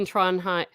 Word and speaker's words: Trondheim: Speaking of judgment, and he's told me this before, the D in Trondheim, there I said it right, is silent, Teresa.